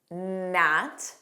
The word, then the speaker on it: gnat: There are three words that start with a GN spelling that are somewhat common in English. Do you know what those are? Naw. Notice it begins on an N. Naw. This means to bite or chew something repeatedly. Commonly, an animal would do this. Gnat. Gnat. This is a very small flying insect that always seems